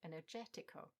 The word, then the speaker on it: energetico: For example, in that initial list we have energetico, energetic. It follows the same pattern, as does hypothetical and ipotetico, but they also have the same ending.